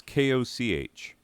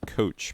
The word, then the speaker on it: Koch: type or or or is it coke i don't know it's koch i always said coach but it's because i never heard it pronounced out loud anyway he is the